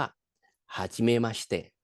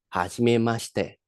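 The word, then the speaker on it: はじめまして: ที่ ได้ รู้ จัก ใน ภาษา อีปุ่น เรา เลย ออก เสียง ว่า ฮาชิม มาชิเตะ ออก เสียง ตาม อีก ครั้ง นะ ครับ ฮาชิม มาชิเตะ คำ ต่อ ไป ครับ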